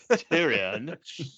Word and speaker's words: Tyrion: where uh Tyrion so Tyrion says uh that's how it's pronounced tyrian a toast to the